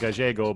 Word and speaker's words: Gallego: I think it's probably Gallego. I have not. Yeah, Gallego. No. Don't think so. I'm sure it's pronounced Gallego, but because it was Sacramento in the late 70s, people Anglicized, yeah.